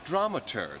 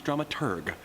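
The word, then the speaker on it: dramaturg: our stage manager slash drama turd the correct pronunciation is drama turg the researcher of the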